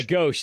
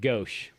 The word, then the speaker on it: Gauche: Yeah, Gauche. That's how you pronounce it. Gauche.